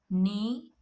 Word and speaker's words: knee: So in the beginning, if you get K and N words, the K becomes silent. You have to pronounce the N sound. So examples: knife, knee, not, knit, know, known, knowledge, knuckle, night, new.